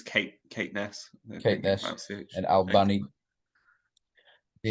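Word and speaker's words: Caithness: up to Cape bledon Keith Nest is that how you say it I think it's Kate Kate Ness okay and Al bunny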